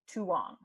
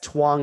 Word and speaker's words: Tuong: and just I'm sorry you just pronounced your name tuong oh yes Twang and Agnes our improv um team name because those are the ways the common ways people say our names wrong okay good people call